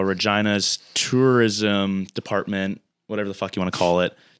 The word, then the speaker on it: Regina: hilarious because it rhymes with vagina vagina is fun it's